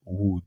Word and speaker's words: would: Ok, on ne prononce pas les L, on dit would.